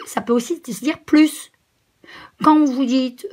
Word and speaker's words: plus: Et plus, ça peut aussi se dire plus. Quand vous dites 5 plus 4, eh ben c'est aussi ce plus-là. Dans un cas, on ne prononce pas le S, et dans l'autre cas, on prononce le S.